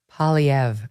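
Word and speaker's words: Poilievre: Kelly my two Canadian producers how do he pronounce his last name again no one's PV Pierre PV you guys remember him he's one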